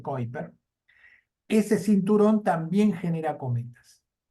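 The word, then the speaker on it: Kuiper: que vienen de el cinturón de kiper el cinturón de ciper que así se escribe pero se dice kiper ese cinturón también genera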